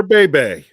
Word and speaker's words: Bhebhe: Garrett Slingerland told he gave you the pronunciation. Okay. Amateur Bebe.